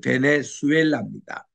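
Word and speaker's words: Venezuela: 저도 이게 스페니쉬를 공부하기 전에는 베네수엘라를 베네수엘라로 읽었어요. 그런데 스페니쉬를 공부하고 나서는 주 발음을 내지 않고 수 발음을 냅니다. 그 베네수엘라입니다.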